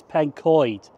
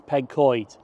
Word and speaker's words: Pencoed: I think I said at Bridgend I pronounced this as Pencoed, and that is so wrong, to be honest with you. To be honest, my Welsh does really suck. So I think the correct pronunciation is Pencoed.